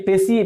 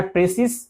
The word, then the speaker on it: précis: और इसका प्रोनाउंसिएशन जो है वह लिखाता है प्रेसिस, लेकिन प्रोनाउंसिएशन होता है प्रेसी।